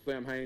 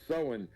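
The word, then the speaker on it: Samhain: notes and I never I've always called it Sam ha but when I started you know delving back into it that it's always being pronounce sewing and I'm like H that makes sense yeah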